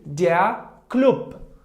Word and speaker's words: Club: If letter B was at the end of the word, it should be pronounced like weak P. For example, let's see, der Club.